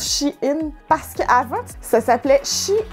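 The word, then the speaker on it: Shein: site chine et oui je suis pas mal sûr que ça se prononce chine parce qu'avant ça s'appelait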